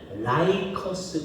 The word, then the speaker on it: 라이커스: 그럼 여기에 흐르는 강이 뭐냐면 라이커스 강이라니다. 그래서 여기를 라이커스 계곡이라고 얘기해요. 그죠? 루커스라고 발음하기도 하는데 이제 미국 사람들은 라이커스라고 합니다.